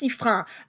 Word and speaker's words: Sifrin: This is how you say their name, Sifrin. There are Okay, people in France that are please, disgusted by your yeah, pronunciation of these. They sound like please get it right. yeah. But it's Sifrin.